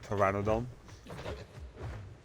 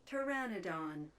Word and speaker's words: Pteranodon: I didn't want to butcher the word because it's PT, not Pteranodon. I like how it shows how it's pronounced, even though it clear like the way it's pronounced is spelled very different.